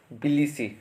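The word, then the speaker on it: Tbilisi: आप प्रोनाउंस कैसे करेंगे, पहला वाला टी है बिलिसी, टी साइलेंट रहेगा, बिलिसी।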